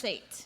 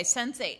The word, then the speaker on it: Sense8: It's SEN, on like the number eight.